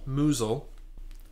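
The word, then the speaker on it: Mousehole: England uh this is a traditional pie from mous hole apparently pronounced mule in Cornwall Cornwall yes uh in honor of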